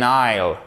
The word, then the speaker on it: isle: An island, an isle. Ok? Vous ne prononcez pas le S.